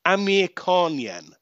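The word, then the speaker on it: Amirkhanyan: So that's A-R-A-M, Aram, and his last name is Amir Khanyan. And I promise you, it is spelt exactly the way our very own Amir Khan spells his name.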